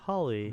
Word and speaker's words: Hawley: Noah oh yeah that makes sense Holly Holly Holly Oh Holly yeah it's H aw right like